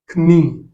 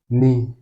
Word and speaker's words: knee: Donc, pour ces mots, le K n'est pas prononcé. Donc, ce mot, par exemple, ce n'est pas knee, c'est tout simplement knee.